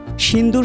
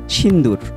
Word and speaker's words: সিঁদুর: তার প্রতিশোধ নেয়ার জন্য সিদুর শব্দটির উচ্চারণ নিয়েও জটিলতা তৈরি হলো? এর কারণটা কি? পশ্চিমারা সিদুর উচ্চারণে ততটা অভ্যস্ত নয়। তাই তার নাম রাখা হয়েছে সিন্দুর। অথচ সিন্দুর শব্দটির আসল উচ্চারণ সিঁদুর।